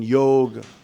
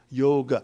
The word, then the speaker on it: yoga: like the O in yoga, in Hindi, they drop the half syllable, yog. But in Sanskrit, that is known as a half syllable, and that is to be pronounced, yoga.